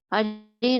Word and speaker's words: Hare: Hare Krishna, Krishna Krishna, Hare Hare, Hare Rama, Rama Rama, Hare Hare. The word Hare pronounced as Hare, Krishna pronounced as Krishna, and Rama rhymes with Rama are Sanskrit words.